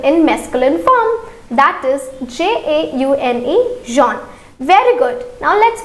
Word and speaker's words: jaune: As you can see that this color has the similar pronunciation, that is jaune.